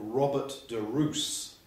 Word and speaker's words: Robert de Ros: a medieval baron called robert de roos spelt ros but pronounced as though it was our double os roos he was the baron